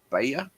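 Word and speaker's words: Baier: zalinski sat down with Brett how do you pronounce him Bayer Bayer Bret yeah Brett be Russi yeah yeah somewhere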